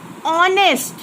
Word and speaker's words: honest: Honest. See, I am speaking honest. I am not pronouncing H.